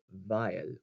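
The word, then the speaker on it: weil: a sh sound or the word vile the w pronounces a v vile or feel for a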